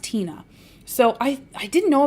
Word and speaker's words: Tena: I would pronounce it Tena t-e-n-a but it is Tina it's pronounced Tina so I I didn't